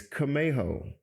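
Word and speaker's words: Camejo: first see it right so it's Kaho c a m EJ o it's actually a Hispanic last name um I'm originally from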